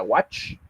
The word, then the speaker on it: watch: Cuando nosotros nos topamos con una palabra que termina con CH, la forma de pronunciar es más golpeada. Por ejemplo, en el caso de la palabra watch, no es lo mismo decir wash. ¿Okay? Si se dan cuenta, la palabra watch al final termina de manera un poquito más abrupta.